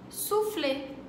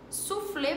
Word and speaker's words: souffler: Souffler. Souffler pra gente se escreveria S-U, su, mas pra eles é S-O-U, S-O-U. Souffler, pra poder ter um som de U.